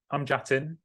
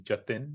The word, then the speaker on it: Jatin: So I'm Jatin, like Latin, but my mother would appreciate and probably prefer you to call me Jatin, which is how she pronounces my name.